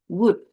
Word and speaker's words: would: Eh, Rani would. L-nya enggak dibaca.